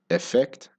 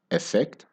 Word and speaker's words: effect: difference between the word effect and effect they sound almost exactly the same when they are spoken naturally effect and effect in both words the stress is on the second syllable so the unstressed syllable